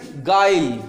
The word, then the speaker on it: guile: अब देखो यहाँ पे, देखो यहाँ पे लिखा हुआ है GUILE, तो इसको क्या पढ़ोगे? गाइल।